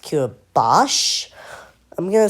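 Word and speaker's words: Curaçao: I pronounce it curody, but it's pronounced curbos.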